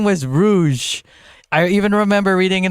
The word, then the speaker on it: Rouge: I thought her name was Rogue. I only figured out how to pronounce her name properly when that movie Moulin Rouge came out.